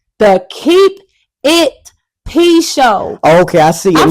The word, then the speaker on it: Keep It P: He's steady saying it wrong. Yeah. Keep it. He's like, yeah. Oh no, man. I'm saying, keep it P show.